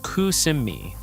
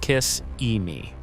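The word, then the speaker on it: Kissimmee: Number eight, kissi, pronounced cusimi, not kiss emei.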